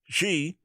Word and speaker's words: Xi: wh skips greek letter g i'm pronouncing it the chinese way in naming new strain